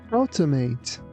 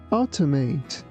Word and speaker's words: automate: Not to mispronounce it like audit. It's audit. Audit. Automate. Automate.